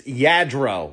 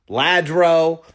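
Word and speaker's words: Lladró: It's Yadro, not Ladro, not Luro, which sounds like a up and cominging rapper from Atlanta.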